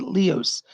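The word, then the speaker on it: Lios: the name of captain leos l-e-l-i excuse me spells it l-i-o-s lee but he pronounced it leos captain leos is one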